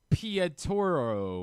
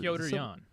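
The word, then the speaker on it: Petr Yan: UFC 323 with Marab and Pietro or whatever. How many syllables? How's that the name you're messing up here? You put extra syllables. Piotr Jan.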